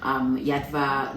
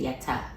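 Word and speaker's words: Yatva: Yadva, you want technically the way Yadva is spelled, you're not supposed to say the V. You're supposed to say Yata.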